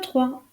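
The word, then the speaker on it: trois: prononce pas tandis que le 3 se termine par un S et il ne se prononce pas non plus 2 D E u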